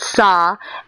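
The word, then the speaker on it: Sahr: know the doomfist oh it's S A HR S A HR pronounced Saw s a HR and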